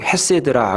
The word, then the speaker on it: 헤세드: 인자하심이라고 하는 그 말은 히브리 원어상 헤세드라 이렇게 발음을 합니다.